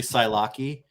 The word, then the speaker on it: Psylocke: Yes, the P in Psylocke is silent, but the E is not. It's actually Psylocke. So Psylocke.